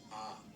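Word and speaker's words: ㅏ: letter is pronounced ah.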